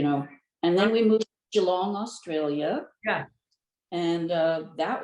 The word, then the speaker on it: Geelong: designed and made for you you moved to gee long is that how you say all right now it's pronounced g long and i would like to just intercert here